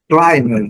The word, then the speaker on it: climber: Climber, que é o escalador, que é o alpinista. Mesma coisa. Se o B não é pronunciado lá na origem, aqui na derivação também não. Então, climber, climber.